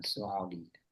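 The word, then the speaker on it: سعودية: Nah, kalau Saudi mirip dengan negaranya Hadi Suudiyah. Iya. Saudiyah. Nah, Suudiah gitu ya cara bacanya.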